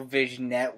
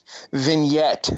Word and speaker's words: vignette: a match technically they had like that whole vision net with Brian to start off the show I love your pronunciation of it even though it's totally wrong fine so be it vignette vignette there we go the any silent okay